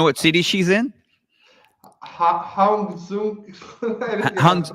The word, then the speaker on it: Hangzhou: Hangzhou. I really cannot pronounce it. Hangzhou.